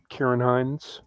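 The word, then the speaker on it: Ciarán Hinds: yeah it's a it's a movie with uh Kieran Hine who played Caesar in the Rome Miner that's how you pronounce his name yeah Karen oh because I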